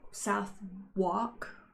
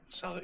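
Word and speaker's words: Southwark: Suk is that how you say it? Soc Yeah. Oh my god. I've been saying it's a burough I've been saying it wrong my whole life.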